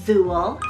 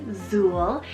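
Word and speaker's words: Zule: Another Z name option here is Zool, spelled Z-U-L-E, Zool.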